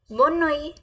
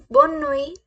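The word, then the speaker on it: bonne nuit: is good नाइट good नाइट को कैसे बोलेंगे बनोई कैसे बोलेंगे बनोई बनोई बनोई बनोई please repeat with me बनोई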